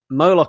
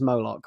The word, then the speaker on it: Moloch: thought of it as moloch what do you guys think i say moloch because it rhymes with bollock yeah that's not my